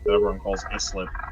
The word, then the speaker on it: Islip: There's a town on Long Island called Islip that everyone calls Islip. How do you say that town with the P name again? Oh, Poughkeepsie? Yeah, that's it. Islip.